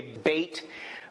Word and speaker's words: Bet: This letter, Bet, or what some people say, bait, but how you pronounce it, Bet is usually what I've heard.